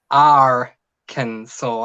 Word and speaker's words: Arkansas: Let's No, say it Arkansas. definitely doesn't look like it sounds, but Mhm.